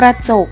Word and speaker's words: กระจก: ว่า กระจก อ่าน ว่า กระจก คำ ว่า กระ จะ อยู่ ที่ พยางค์ หน้า เรา จะ ออก เพียง กึ่ง เสียง เท่า นั้น ค่ะ ประชาชาติ อ่าน ว่า กระชาด